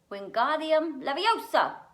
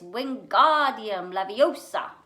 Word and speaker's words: Wingardium Leviosa: wasn't having much luck wingardium leviosa he shouted waving his long arms like a windmill you're saying it wrong harry heard hermione snap it's wingardium laviosa make the gar nice and long you do it then